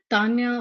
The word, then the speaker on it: Tanya: um there's is it Tanya or is it Daniel Tanya not quite sure it's pronounced Tanya and in Hindi so I'm sorry if